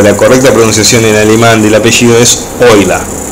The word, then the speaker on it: Euler: y hablar de múner ya no la correcta pronunciación y de animal del apellido es hoy la y no para introducirnos en los grafos aliviados